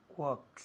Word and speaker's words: walks: I know where he walks. Walks. Muy bien. Hay una L, pero no se dice.